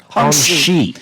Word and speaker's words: Hongxi: And again, it's pronounced Hongxi. Yeah, because a Q is a sha in Chinese.